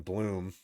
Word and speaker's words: Blum: Some moron Sam Bloom at Sam Bloom 3. Sam, spelled like Sam.